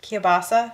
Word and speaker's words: kielbasa: say it kill Bossa how do you say it kielbasa it's like Mufasa and stop I'm waiting